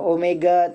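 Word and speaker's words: ω: Omega seperti W ini bacanya omega.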